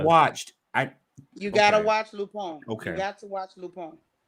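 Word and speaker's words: Lupin: ain't got to read no subtitles it's called lupone it's spelled l-u-p-i-n it's got this real big black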